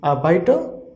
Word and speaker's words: Arbeiter: We have wrote here r, but pronunciation of r at the end will be really less. Okay, so overall pronunciation is arbeiter, arbeiter, and it means worker.